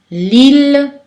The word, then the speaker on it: Lille: Aussi dans le mot Achille ou le nom de ville Lille, c'est prononcé L.